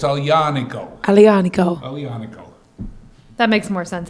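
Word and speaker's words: Aglianico: Torino and actually he told us how to pronounce alianico yeah it is officially now it's not El Unico it's all yaniko alianico that makes more sense and he's uh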